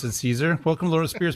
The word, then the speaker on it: Caesar: Or Kaiser in Latin. Kaiser. Kaiser in Latin. Yeah. But Caesar or César in French, it's all good.